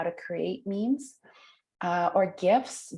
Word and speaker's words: GIF: By the way, who says it with a hard G and who says GIFs with a soft G?